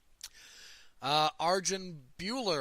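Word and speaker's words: Arjan Bhullar: in their next fight Arjun Bueller I think is how he wants that pronounced defeated Marcelo goal being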